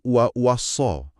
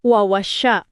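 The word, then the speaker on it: وَوَصَّىٰ: Mayoritas ulama membacanya wa-wasso dengan tasdid di huruf sod. Ada penekanan di situ. Wawasya.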